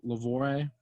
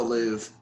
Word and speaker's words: Louvre: York Harbor, the Mona Lisa is stolen from Louvre, if that's you pronounce that. It's in France. The Louvre. What? It's the Louvre. Louvre.